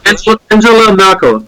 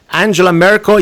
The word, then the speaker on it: Angela Merkel: Angela Merkel.